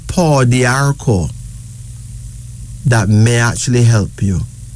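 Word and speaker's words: pau d'arco: Well, there's a herb called paw d'arco that may actually help you. Okay? Tell that. P-A-U-D apostrophe A-R-C-O. So just write P-A-U-D-A-R-C-O, paw d'arco.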